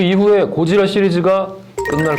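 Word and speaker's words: ゴジラ: 이게 지금 개봉명은 신 고질라인데 저는 그냥 고지라로 발음하겠습니다. 일본 발음은 고지라가 맞습니다.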